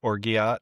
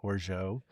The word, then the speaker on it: orgeat: A half an ounce of orgeat, which is spelled like orgeat, but it's orgeat.